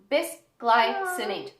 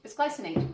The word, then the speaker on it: bisglycinate: Yes, but how do you pronounce that? Bisglycinate. Bisglycinate.